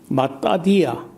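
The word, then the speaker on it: מתתיה: 매튜라는 그런 정말 참 원어에서 많이 그러니까 마태도 정확한 발음이 아니고 원래는 마따디아 혹은 마띠아가 이제 히브리어를 제대로 발음하면은 마띠아인데 마따디아나 마띠아나 똑같이 의미가 뭐냐면요 야훼의 선물이다, 여호와의 선물이다 하는 뜻이에요.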